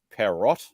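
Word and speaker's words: Pierrot: It's actually got a French name. It's Perrot, I think you pronounce it.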